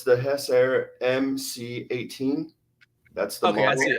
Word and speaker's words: Hessaire: Yeah, it's a Hess Air. So it's spelled HESSAIRE.